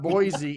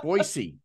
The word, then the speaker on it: Boise: It's not Boise, it's Boise.